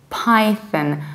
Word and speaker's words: Python: have to say Python Python there are three potential difficulties here number one you don't see pip but you say PI like an apple pie number two you don't